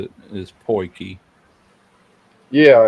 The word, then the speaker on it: potjie: O I think T that's the way you J I pronounce E. it is Poiki.